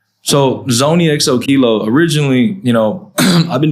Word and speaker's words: ZoneyXOKilo: tongue Twi yeah yeah I mean Zone XO kilo that's that's how you pronounce a lot of people